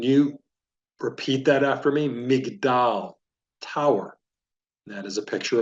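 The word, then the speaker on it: מגדל: Tower in the Hebrew language you would say Mig doll can you repeat that after me migdal Tower that is a picture of a McDowell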